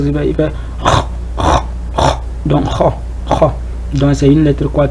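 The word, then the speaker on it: خ: Il fait donc kha. Donc c'est une lettre quoi qui est chose il faut le faire kha. Il ne faut pas faire ha. C'est kha. C'est une lettre qu'il faut le prononcer d'une manière quoi.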